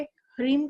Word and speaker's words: ह्रीम: Second चीज ये है कि हमें सांस लेते हुए श्रीम और सांस छोड़ते हुए ह्रीम का उच्चारण करेंगे।